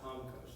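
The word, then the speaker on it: ὄγκος: It's the word onkos, which is actually spelled O-G-K-O-S, but it's pronounced onkos.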